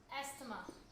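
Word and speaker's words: asthma: Next है हमारा एस्थमा, जिसको हम एज़मा भी कहते हैं, कोई एस्थमा भी कहता है, जो प्रोनाउंसिएशन सही लगे, मेनली एज़मा का होता है।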